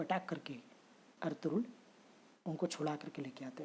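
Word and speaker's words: Ertuğrul: एक दिन इर्तुगरुल गाजी, एक्चुअली में क्या है, ये टर्किश वर्ड है, और टर्की में लिखते हैं जहाँ पे इर्तुगरुल, इसको प्रोनाउंस करते हैं अर्तुगरुल। क्यों? क्योंकि टर्किश वर्ड में जी प्रोनाउंस नहीं होता है, इसलिए इसको बोलते हैं अर्तुगरुल, लिखते हैं अर्तुगरुल।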